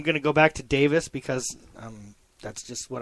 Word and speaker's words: Davis: plus okay yeah um Chris I'm gonna only say his name the way they want it said once because I feel ridiculous um Chris devis they'll say it like that just sounds so ridiculous apparently that's the way it's pronounced but I'm going to